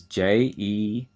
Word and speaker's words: jejunum: section is called the jejunum and that is j-e-j-u-n-u-m jejunum and the last and longest section is